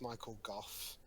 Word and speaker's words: Michael Gough: Nothing, but it's pronounced Michael Goff.